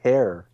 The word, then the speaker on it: Herr: Although Like, you would actually pronounce it hair.